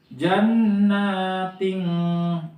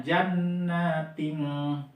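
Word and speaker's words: جَنَّاتٍ: Nah, ini kan kalau misalkan kita baca apa adanya, jannatin kan itu kan tasjid bawah ya. Nah, tapi karena di sini kita memakai ilmu tajwid, jadi dibacanya jannating ting. Karena apa? Di sini ada tanwin ketemu dengan ta. Nah, ta itu masuk kategori huruf ikhfa, teman-teman sekalian ya. Ikhfa itu didengungkan bacanya, jadi pakai jannating ting gitu ya, ikhfa.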